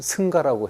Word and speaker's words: 승가: 그래서 이걸 발음을 어떻게 할 것인가? 상카입니다. 상가인데 상가를 처음엔 승가라고 했습니다.